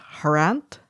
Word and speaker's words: Harant: Which is, I think, is pronounced Harant. Harant. Yeah. Okay, and that's like, I'm putting a dodgy accent on it, sorry. Yeah, no, Harant. that's fine. Which is like Grant.